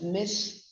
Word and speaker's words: mischievous: It's pronounced as mischievous.